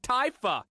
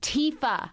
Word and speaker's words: Tifa: She I never know how to pronounce Asian names. Why can't you have a simple name like Tyifa? It's Tifa.